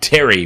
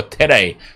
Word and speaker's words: Tere: I probably put too much emphasis on the... I made it too much of a Y pronunciation. Didn't I? I went Terry, but it'd be more Tere. Tere is probably more like it.